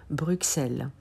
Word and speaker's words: Bruxelles: Et c'est le cas de Bruxelles. C'est un X doux parce qu'il y a X et E, la voyelle E derrière. Bruxelles.